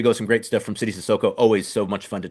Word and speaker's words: Sidy Cissoko: So, but no, I mean it's like C and D, like the CD, like is simple.